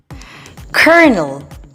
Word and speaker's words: colonel: Today I'm going to share with you 3 words that are commonly mispronounced. Let's start with the first word. Colonel.